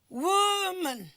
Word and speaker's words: woman: board example the word woman is actually a noun and that is why the Woo is the uh the syllable that is what that is stressed two we have the